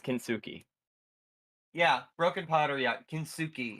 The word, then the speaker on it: kintsugi: It's not kenbaku. It's fucking. I think it's called like giorni or something, or joinery or whatever. However you would Hold pronounce on, it. hold on. I'm gonna look it up. It's Japanese- kintsugi. It's kintsugi.